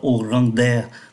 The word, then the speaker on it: Au grand air: Chúng ta để ý cái cách đọc nối từ ký tự D đi qua ký tự A, người ta không đọc là Au grand air, người ta đọc là Au grand air. Đây là một cái trường hợp phát âm đặc biệt.